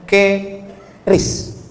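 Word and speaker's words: QRIS: Sekarang di pintu-pintu masjid, di pintu-pintu mall ditulis ada namanya ke ris qis. Q ris. Cara bacanya gimana sebetulnya? Keris. Q-nya quick.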